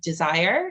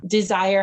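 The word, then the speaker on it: DSIRE: the listeners is a site called desire and it's spelled d-s-i-r-e so if you are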